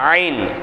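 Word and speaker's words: عين: ஒரு ஆயத்து முடியுது புரியுதுங்களா ஐன் ஐன் எப்படி வரணும் தொண்டையின் நடுப்பாகத்திலிருந்து உச்சரிப்பது தொண்டையினுடைய நடுப்பாகத்துல காத்த வெளிப்படுத்தினா ஹா தொண்டையினுடைய நடுப்பாகத்தை கொஞ்சம் அழுத்துனா ஐன் ஷா ஐன் ஐன் ஹா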